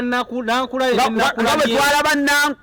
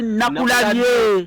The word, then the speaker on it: Nakulabye: lukyuka era munjatula nga olaba Nankulabye era bamuyita Nankulabye naye nga kyali Nakulabye nakati we kiri naye pronunciation kiyita okufa olw'okwanguyiriza ebigambo abantu abawangaalirawo abamu bakimanyira bawandiika